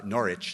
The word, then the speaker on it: Norwich: of the sainsbury center for visual arts in Norwich Norwich as they pronounce it UK um and George Schwartz who's